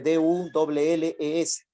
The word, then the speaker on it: Dulles: Se escribe D-U-L-L-E-S, se pronuncia Dulles.